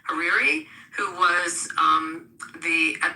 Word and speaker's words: Hariri: Um, someone helped me because I mispronounced sometimes Harari Hariri who was um the at the time in